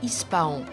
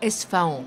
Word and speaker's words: Esfahan: Mais bientôt, Ispahan, ou Esfahan avec la prononciation arabe, est en vue.